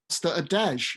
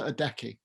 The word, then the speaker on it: Adeje: Well, I've been pronouncing it Costa Adeje. I've just found out that's completely wrong. So good. I haven't been talking to too many people about it, but that's good to know. As you've been there and played it, I'll bow to your pronunciation. Costa Adeje.